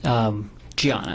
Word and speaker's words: Diana: Bunting was married to a woman named Diana, correct? Gianna. It's spelled with a D, but she's Brazilian.